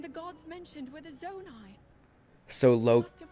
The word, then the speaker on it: Zonai: It is Zonai. These figures look like Hylians. I pronounced it correctly.